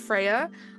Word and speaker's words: Freya: most interesting right now, being Emra, and Freya, pronounced Freya. I love that I got Freya right, which understandably is the one that you gave me the pronunciation for, but I couldn't do Emra. Emre, there we go.